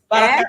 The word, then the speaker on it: Baraka: Baraka accent on the A.